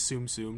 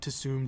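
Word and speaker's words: Tsum Tsum: anyway I know that the official Disney pronunciation is tsumtsum not too soon too soon soon soon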